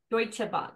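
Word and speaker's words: Deutsche Bahn: amenities so how what's it how is it pronounced deuta deuta Bond yeah deutche Bond okay there are two booking class available on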